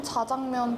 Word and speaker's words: 자장면: 다 바른 표기법 아니에요 둘 다 맞다고 할 수 있습니다 짜장미엔이라고 작 장면을 발음을 하기 때문에 거기서부터 나와서 이제 짜장면 짜장면이라고 부르던 것을 언어 순화 차원에서 된소리를 좀 억제하는 차원에서 자장면을 그 표준어로 지정을 했는데 이제 사람들이 워낙 짜장면이라고